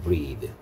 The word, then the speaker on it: breath: breathe라고 발음한다 했고, 이건 동사였습니다. 숨 쉬다란 뜻이죠. breathe.